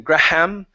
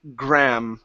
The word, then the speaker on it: graham: So, instead of saying graham, it's only gra.